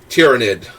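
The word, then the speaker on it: Tyranid: in gaming shops, so I feel like Tyrannid is the correct pronunciation.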